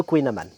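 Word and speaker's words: kouign-amann: le prononce tous mal il y a une prononciation à la Bretonne après je ne suis pas un Breton bretonnant mais en tout cas voilà j'ai toujours entendu dire mes grands-parents et mes arè grands-parents dire le queinaman donc on dit le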